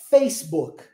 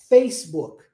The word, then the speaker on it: Facebook: final e quer ver outra Facebook Facebook ó lá no início Facebook aí o que que o pessoal faz no Brasil Facebook ok dá ênfase lá no final isso é comum por